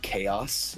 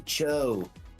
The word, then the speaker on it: chaos: game, and there was the word chaos in there, and I had no idea how to pronounce it, so I said, "Oh man, the world's gonna fall to Cho."